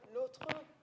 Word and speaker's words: l'autre: So we've got the word l'autre, which is in 2 syllables because it's being followed by consonant.